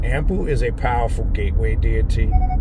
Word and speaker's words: Anpu: for another time but it takes it more back to how it was pronounced in ancient Egypt and ampu is more of a